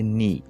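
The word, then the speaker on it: 你: তো এই যে চাইনিজ অক্ষরটা দেখতে পাচ্ছেন, এটা হচ্ছে চাইনিজ ক্যারেক্টার, আর এটার উচ্চারণ করতে হয় নি, NI।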